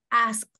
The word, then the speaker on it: asked: No, la T. Como una T. Es una T porque va después de una K. So, asked.